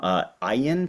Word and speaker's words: Ayin: And then most recently, he has a collection of essays, The Necessity of Exile, from Ayin Press, is that how it's pronounced? Yes. Yeah, Ayin Press, in 2023, which has won a raft